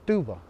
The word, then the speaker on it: tuva: where you're living at in our hopi language we do pronounce that pine nut as tuva even the paiutes have that